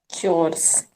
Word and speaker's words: chores: ऐसे नहीं बोलते, chores, चोर्स। household चोर। chores। लेटर बिल्कुल ऑन वही उच्चारण कीजिए जैसे हम चोर बोलते हैं ना, अरे चोर चोर चोर चोर चोर्स। घर के काम, हाउस होल्ड चोर्स। चोर बोलते बोलते चोर्स।